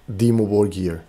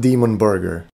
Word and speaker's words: Dimmu Borgir: First of all, it's supposedly pronounced Demon War, not Demon Burger.